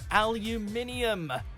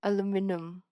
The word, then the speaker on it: aluminium: mixed I like taste of it number one aluminium I aluminum Alum aluminum can I please have the aluminum